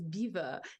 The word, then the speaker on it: Belvoir: But I'm sure you say it is pronounced, the name Belvoir, meaning beautiful view in French, and pronounced today as beaver, dates back to Norman times.